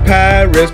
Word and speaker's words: Paris: other continents you see my capital city is known as Paris but inside of France they pronounce it par we we are the